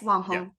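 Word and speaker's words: wanghong: mukbang streaming in China now am I pronouncing this right is it Wang Hong yes Wang Hong Wong Hong as industry labor and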